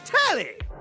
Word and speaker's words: Telly: Before we get to what's on my The name's Telly. Rhymes with Whoa. Nelly.